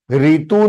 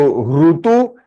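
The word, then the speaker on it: ऋतु: Ritu nahi hai. Ritu can be a name in Hindi, Marathi. It is not in Sanskrit. Sanskrit mein Ru hai. So Rutu and Rushi.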